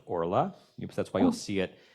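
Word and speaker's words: ערלה: of Ora is a kamat Katan so it's pronounced Ora that's why you'll see it um you might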